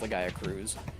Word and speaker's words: Legaia Cruise: one quest that's like called that, and like it's called Legaia Cruise Control, which implies that Legaia Chris is in fact pronounced Legaia Cruz.